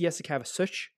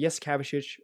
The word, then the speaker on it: Jasikevičius: It might be Jasikevičius. It might be a softer sound at the end of his name, but Jasikevičius is how I said it when I was younger.